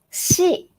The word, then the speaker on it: し: Pronunciation is a little bit tricky because not sa, si, su, se, so, but sa, shi, su, se, so. In original Japanese, we don't have si sound, so we use shi instead, like sushi.